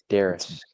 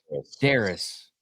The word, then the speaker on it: Darius: David, you're saying his name wrong. It's Darius. Darius.